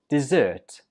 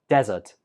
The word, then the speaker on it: dessert: in the wrong place this one is pronounced dessert dessert where did you hear the stress right on the second syllable dessert if you put the stress on the first syllable it sounds more like desert which is not correct of course a desert